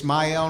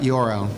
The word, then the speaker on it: Ismael: My name is Ismael, not Yorel.